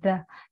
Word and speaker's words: the: The. Nhớ là âm th này chúng ta phát âm là the. Hiện đây là một phụ âm hữu thanh cổ họng chúng ta dùng.